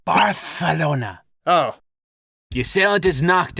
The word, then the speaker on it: Barcelona: heroes to barcelona what i think you're supposed to pronounce it barthelona oh the assailant is